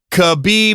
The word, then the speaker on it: Khabib: when I gave up khabib not rock-a-bye Rob Rob I don't